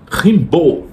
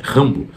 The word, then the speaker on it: Rambo: estudou autores franceses, entre eles rimbow ou se você ler como em francês, Rimbô, que até o clube de literatura clássica uns tempos atrás colocou como um dos livros que lançaram a tradução, a pronúncia correta é Rambo.